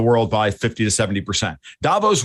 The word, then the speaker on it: Davos: Davos rhymes with Thanos, guys, like the Marvel movies.